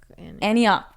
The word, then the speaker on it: Antioch: Antioch? No, Antioch? Antioch. That's how you say it.